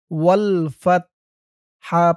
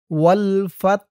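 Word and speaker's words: وَالْفَتْحُ: এখানে অক্ফ করার কারণে উচ্চারণ হবে ওয়াল ফাত, ওয়াল ফাত। হার আওয়াজটা লাস্টে একটু ভাসবে। ওয়াল ফাত। আর যদি এখানে আপনি অক্ফ না করেন তাহলে বলবেন ওয়াল ফাত হু, পরের আয়াত ধরে পড়বেন।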